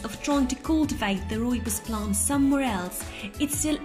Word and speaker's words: rooibos: Rooibos tea, pronounced rooibos, also known as African bush tea, is actually not a tea, but a bush which is grown in South Africa.